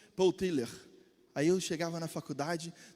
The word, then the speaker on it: Tillich: Aí fui lá e perguntei para o meu tio também, tio, como é que é a pronúncia? Paul Tiller.